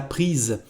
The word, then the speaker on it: prises: agreement to add es, and the pronunciation is different. Il les a prises.